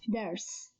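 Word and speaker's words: درس: Examples of it are dars. This word consists of three consonants, dal, ra, sin, and only the first consonant is moved, which means it has a haraka, here fatha, so it is pronounced as only one syllable, dars.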